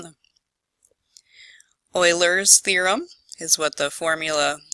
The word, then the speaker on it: Euler: you will name them oilers theorem is what the formula was that some of us learned about on Friday it's called euler's theorem yes I'm pronouncing that right as in mathematician Leonhard Euler it says that the